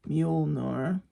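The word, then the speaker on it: Mjölnir: Then we have Thor's hammer, Mjolnir, I think it's pronounced.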